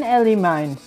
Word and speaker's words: Elimine: Pengurus gereja Saint Elimine membantu pasukan Lycia masuk kota. Oh, si Saul ya. Akibatnya para pemberontak terpaksa bertahan di dalam istana. Oke. Gereja Saint Elimine. Elimine itu bacanya Elimin.